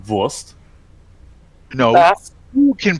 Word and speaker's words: Wurst: But then I have to ask you to actually pronounce it correctly. It's Wurst.